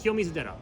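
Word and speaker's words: 清水寺: Ky Misera.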